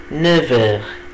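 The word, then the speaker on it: neuf heures: هتبقى إلي نيفر، إلي نيفر، إلي نيفر. هنا خلي بالكم منطقش الإف بنطقها في، بقول إلي نيفر الساعة 9.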